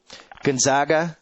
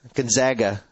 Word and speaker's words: Gonzaga: with this Syracuse team Gonzaga Gonzaga Gonzaga Gonzaga Gonzaga that's how we call it that's how that that's how you pronounce my high school which is Gonzaga College High School here in the District